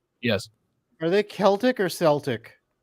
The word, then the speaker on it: Celtic: Are they Celtic or Celtic? So in the Scottish pronunciation is Celtic, but Celtic is Irish because the team was founded in Ireland.